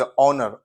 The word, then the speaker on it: honour: इसका जो pronunciation start होता है वोवेल से, ऑनर, ओ।